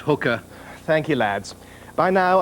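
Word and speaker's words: Haiqa: little bear flesh showing Jemima's new name will be hiker Khan pronounced hooker thank you Lads by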